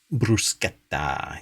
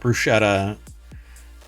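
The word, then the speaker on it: bruschetta: I guess that's proba are you sure it's not brusketta it's brusketta yeah I I already hear that woman yelling at us for pronouncing it wrong um yeah for those not in the and haven't listened to the entirety of our 700 plus episodes um maratt got yelled at at an Italian restaurant for not pronouncing brusketta properly it's not Bretta um I'm going to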